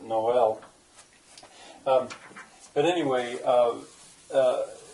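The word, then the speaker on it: Noël: Cornwall it's Cornish uh Noel is a French word for Christmas it's spelled Sometimes some times like this with a mark over it to show that it's not n but Noel um but anyway uh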